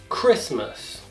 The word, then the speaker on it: Christmas: Então, numa palavra, quando ela tiver a letra T e ela vier depois da letra S, essa letra T também será uma letra que nós não iremos pronunciar na palavra. Como, por exemplo, as palavras Christmas e listen.